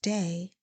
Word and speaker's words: DAA: DAA, pronounced Day, are my initials.